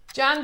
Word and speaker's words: Jan: seconds let's go Lower Jan Jan. It rhymes with ham.